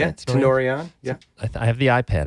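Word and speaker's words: Tenori-on: Tenorion.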